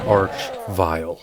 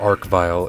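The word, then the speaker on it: Arch-Vile: enemy is something called the arch vial or Ark vial if you want to say it like that I don't care which way you say it it is a bastard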